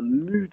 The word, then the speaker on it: mut: Et d'ailleurs, nous, on prononce bien un mut avec un U long.